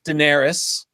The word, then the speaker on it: Daenerys: And of course, George says pronounce everything how you want. So Right. it's Daenerys.